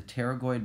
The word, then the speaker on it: pterygoid: are also pterygoid x' the P is silent there the pterygoid muscles attached to part